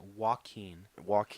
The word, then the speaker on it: Joaquin: Joaquin.